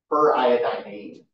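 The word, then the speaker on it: periodinane: Seems like there's an extra syllable in there, but that's actually correct. It's iodine-ane. Per iodine-ane.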